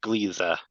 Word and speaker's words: Gliese: it is pronounced Gleeza. I think the name is Dutch.